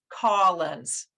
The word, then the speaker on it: Collins: it on youtube so his name is pronounced collins with that olive sock sound so whenever you're listening